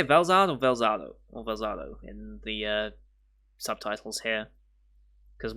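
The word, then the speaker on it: Velzard: Or Velzado in the subtitles here? Because once again, it's one of those names where it's got like multiple listings. Let's see. They pronounce it Velzado, but it's written Velzad.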